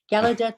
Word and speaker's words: Gallaudet: you say that thank you i always wondered gallaudet university the house ear institute and the university